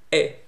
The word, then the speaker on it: è: È with a stress on top of it, meaning it is an open è. So the E vowel is always pronounced E in Italian. But we have two is, two e. The closed one, e, and the open one, e. You open your mouth well when you spell e with stress on it.